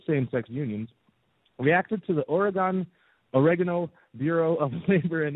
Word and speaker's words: Oregon: wedding cake for a you pronounce it origon he did pronounce it origon yes oh origon like origami so if you're you're folding if you're if you're folding paper is it origani yes oh are you one of these pronunciation snobs no I'm with her it's Oregon now let please let Liberty